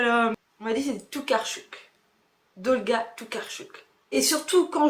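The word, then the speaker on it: Tokarczuk: Oh là là, on m'a dit c'est Toucarch. Dolga Tarchuk. Et surtout quand je prononce mal le nom d'un auteur, n'hésitez pas dans les commentaires à me euh dire comment ça se prononce.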